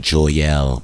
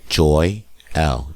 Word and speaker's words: Joyelle: Now me seeing that name, I was like, I saw it together, so I'm saying Joyelle, but it's not that. It's Joy L.